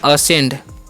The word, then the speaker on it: ascend: ASCEND, इसे हम पढ़ते हैं असेंड। क्या पढ़ते हैं? असेंड पढ़ते हैं। ठीक है, यहाँ पर भी सी साइलेंट होता है।